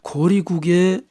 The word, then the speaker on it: 고려: 거리고 고구려 고글이라고도 불린 고려 옛 발음은 고리입니다 고리국에 출신인 해모수였기 때문에 해모수부터